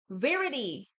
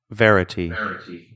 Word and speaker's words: verity: Verity. Verity, okay. Like verify, never mind.